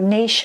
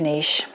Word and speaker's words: niche: Let's look more deeply at your niche and hyper niche. I use the word niche instead of niche because I'm English and I studied French, and this is the French pronunciation for a French word.